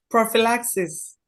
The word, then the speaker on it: prophylaxis: Can you pronounce this for me? Prophylaxis.